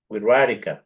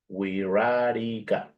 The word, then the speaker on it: Wixárika: language is also called WEA now this is pronounced like an R WEA yes WEA and well